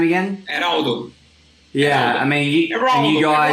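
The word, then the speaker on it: Everaldo: Heraldo. Yeah, I mean, you guys. Heraldo, you got to roll your tongue a little bit.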